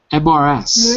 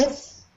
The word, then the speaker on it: Mrs.: No. Look again. MRS. Mirth? Mirth? No. No? Mrs. Mrs. Right. Mrs. is, you can write it like this, but we abbreviate it like this, and it's for a woman.